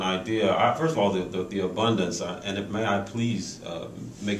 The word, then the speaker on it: AbunDANCE: First of all, the abundance, and may I please make sure people know that the word dance is in that. You know, I just think tend to pronounce it AbunDANCE.